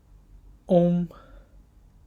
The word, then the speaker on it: ong: Okay, so finally O and G, they're pronounced om. It's not on, it's om. It's like you struck a really big bell and it will be om, that vibration feeling.